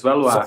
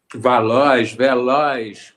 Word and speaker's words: Valois: Tell me, because I say Valois because I'm thinking in English. What would it be? French. It's Valois. So Valois. I imagine Valois. Mm-hmm. Okay. And how do they pronounce it here in Brazil? Do they pronounce it Valois? Veloz.